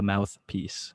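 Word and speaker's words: MouthPeace: The mouthpiece, like PEACE, like peace on earth, man. Yeah, it's spelled a little bit different.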